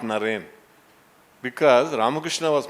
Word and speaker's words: Naren: his guru boys would call him lorraine not naren because ramakrishna was pronouncing it as loren so they were calling him as lorraine such